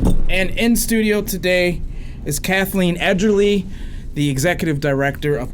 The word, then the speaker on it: Cathleen: all the time and it's two syllables it is two syllables Kathleen I've been servi Nia